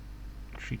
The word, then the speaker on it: tree: tree right North departure tree tree also discovered yesterday that um that tree is the right way to say three in Pilot speak all this time I